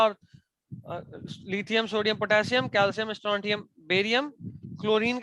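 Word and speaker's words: strontium: कई बार स्ट्रोंटियम लिख देता तो समझ में नहीं आता। ये एसआर क्या है? स्ट्रोंटियम।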